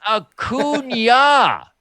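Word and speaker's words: Acuña: And then Harper just looks at Real Muto and looks back at the guy and he goes, "It's Acuna.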